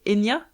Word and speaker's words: Enia: C'est à l'italienne, je pense que ça se prononce David. David ou David Enia.